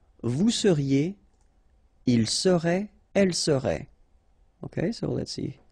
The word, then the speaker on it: serait: seriez, il serait, elle serait. Okay, so let's see how it goes. Je serai, final S not pronounced. Tu serais, same thing here. Il serait, elle serait, final T not pronounced.